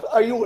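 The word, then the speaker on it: ewe: إحنا الآن هنقول واحد عنده what is a you.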